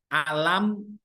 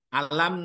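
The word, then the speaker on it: أَلَمْ: pertama alam nasyrah lakasadhoran itu ada tajwidnya itu ada mim mimnya kan berbaris mati ibu ya mimnya berbaris mati Bari sukun setelah huruf mim mati itu mim sukun itu ada huruf nun ada huruf nun atau kalau di situ akan ada syafawi itu bacanya harus jelas bu alam alam jadi dia harus jelas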